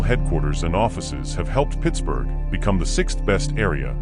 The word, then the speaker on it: Pittsburgh: As Forbes was a Scotsman, he probably pronounced the name Pittsburgh, similar to Edinburgh.